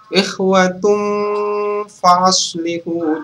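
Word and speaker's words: إِخْوَةٌ فَأَصْلِحُوا: Jadi pada saat membaca ini kita ikhwatum faslihu. Jadi pada saat membaca ini kita menahan 2 atau 3 harokat, 2 atau 3 ketukan, dan didengungkan plus disamarkan karena ini adalah ikhfa bukan izhar.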